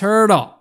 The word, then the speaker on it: Hertl: the nhl that has a name that rhymes with squirtle and of course i'm talking about the san jose centerman thomas hertl let me try and